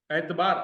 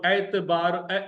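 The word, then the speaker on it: اعتبار: एतबार, अलिफ पर जबर, अलिफ ऐन जबर, अलिफ पर जबर, ऐन पर जेर, ते पर जेर, बे अलिफ जबर बा, रे पेश रु, एतबार, एतबार, एतबार यानी यकीन, एतबार, ट्रस्ट।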